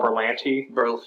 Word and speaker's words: Berlanti: The thing that excites me about it is Greg Berlanti, or how do you say his name? Berlanti.